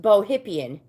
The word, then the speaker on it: Bohippian: It's pronounced bohypian instead of uh you know nowadays the fat is bohemian.